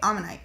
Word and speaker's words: Omanyte: Okay, Omanyte.